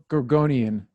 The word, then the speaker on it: Gorgonian: How do you pronounce that? Gorgon. It was a Gorgonian. Gorgonian.